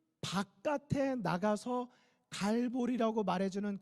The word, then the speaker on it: 갈보리: 분이 계실 수 있는데요 사실은 같은 말입니다 이 알아 뭐 히브리어로 했을 때 발음이 골고다 인 것이고 우리 한국 막 씩으로 했을 때 그 것이라 친 으로 해서 영어식으로 바뀌면 텔 볼이 가에 갈보리 가 되는 것입니다 그런데 골고다의 뜻이 뭐에요 왜